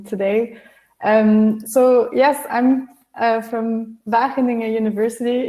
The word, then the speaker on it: Wageningen: So yes, I'm from Wageningen University. It's a G, and it's pronounced with a hard G, and I'm an assistant professor in Ethics of Technology.